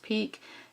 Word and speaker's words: pique: pinwheel corduroy and pique Epperly that's how that's pronounced peak twill duck and laminates